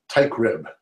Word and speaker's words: Teichrib: I CH RI B B as in boy ty crib yeah that's a weird name I know that's really truly easy to pronounce very easy to spell but that's not